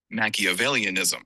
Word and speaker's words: Machiavellianism: have a quick confession I've been having difficulties pronouncing this word so let's let the internet help me and help yes okay Nike availianism yes thank you internet yes okay so the